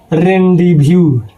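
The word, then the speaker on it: rendezvous: तो सिर्फ एक लेटर में जेड साइलेंट रहता है।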